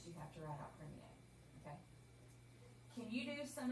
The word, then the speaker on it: premier: it's like premier. Close. ER makes an A sound on the end.